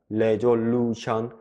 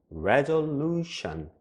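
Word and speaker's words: resolution: 발음되는 부분들이 있어요 그래서 레졸루션 레졸루션 이게 아니라 이렇게 강하게 발음되는 부분이 있다라는 것을 참고로 알아두시고요 그리고 이렇게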